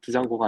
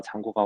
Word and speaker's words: Django: 했고 그 다음에이 잔고가 뒤가 무금이거든요 그래서 발음은 두 장구가 아니라 잔고가 왔습니다 이거 말고 이제 잔고에